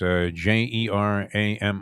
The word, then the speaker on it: Jerami: Is it Jeremy Grant? Is that how you pronounce it? It's Jerami.